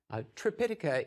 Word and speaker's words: Tripitaka: Tripitaka is the Sanskrit pronunciation, and Tipitaka is the Pali pronunciation.